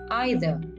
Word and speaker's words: either: of them like jazz next either as with neither you can also pronounce this as either it is used for